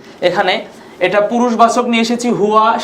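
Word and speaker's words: هُوَ: হুয়া উচ্চারণ করি বন্ধুরা, হুয়া, হ্যাঁ, হুয়া, হুমা, হুম।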